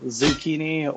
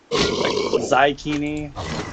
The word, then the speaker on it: Xikini: people attempt anyways is zukini or zini trying to like combine the X and the I together to like make a z sound that's probably the more